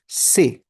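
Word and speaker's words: C'est: French में that is से। सी एपॉस्टोफी ई एस टी। उसे प्रोनाउंस कैसे करते हैं? This bracket always सिग्निफाइज़ हाउ डू you pronounce it? तो यू प्रोनाउंस इट एज से।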